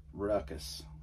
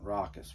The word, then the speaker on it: Rawkus: his meaner face right Ruckus rockus Ruckus I think it's Ruckus rockus maybe it's rockus spelled like raw put him over here